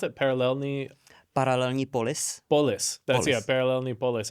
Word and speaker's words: Paralelní Polis: There's probably some context we can provide here, but how do you pronounce it? Paralelní Polis.